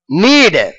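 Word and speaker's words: knead: पेट्टुकोनु किस kissed kissed नीड नीड विद्यार्थुलकु मुख्य विज्ञप्ति के एन ई एडी के साइलेंट अंडी दीनी पलकेटप्पुडु एन ई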